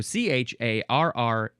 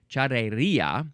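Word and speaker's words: charrería: It's charreria. So charreria, charreria. There's an accent on the I.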